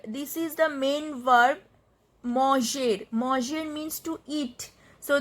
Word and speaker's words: manger: So mang, mange, and we have in the place of er we have to add this accented e, this axo aigu on e. So this pronunciation will be manger.